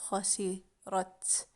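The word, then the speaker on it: خسرت: For a female, we're going to add ta at the end. So it's khasirat. Khasirat. She lost. She lost. Khasirat. Khasirat. She lost. Because of the sukun.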